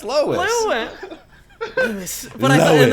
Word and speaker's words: Lois: When I take a look at Lewis Griffin, I feel Lewis?